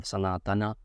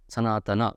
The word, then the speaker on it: Sanatana: Only then we will be able to realize how every word needs to be pronounced, whether it should be Sanatan or Sanatana or Sanatana. Sanatana is wrong. Sanatan is wrong. Sanatana is the right pronunciation.